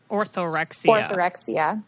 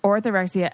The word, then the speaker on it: orthorexia: Orthorexia. Orthorexia.